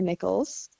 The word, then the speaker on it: Nichols: is spelled like this for and ni i c h o LS for nickels and my handle typically goes nickels 07 um you can